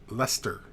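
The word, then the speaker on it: Leicester: conversation Ben Ellis Chris if this helps like Esther equals to Lester Lester like Esther like Esther Lester now you're just freaking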